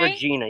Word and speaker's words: Regina: I'm in Regina. Okay. Regina.